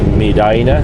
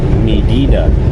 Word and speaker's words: Medina: many of you Americans like to call it midina back home they pronounce it Medina my mom's maiden name was uh t t